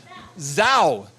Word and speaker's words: Zhao: Helen, and your last name is pronounced Zhao.